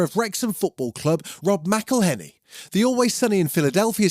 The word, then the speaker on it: McElhenney: He's gone out of his way to create a special birthday song for his co-owner of Wrexham Football Club, Rob McElhenney.